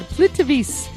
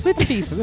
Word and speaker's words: Plitvice: Croatia has this beautiful, it's called Plitvice Lakes National Park. I know I said it right. Sure it's safe to go to these places? Plitvice.